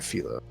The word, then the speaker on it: Filo: only side characters man i'm trying to remember if her name is furor or filo yeah they pronounce a filo in the anime the show yeah turn